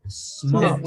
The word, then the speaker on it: smoked: Smoked. Smoked. Just the pronunciation for the word smoke in past, it is with a T at the end.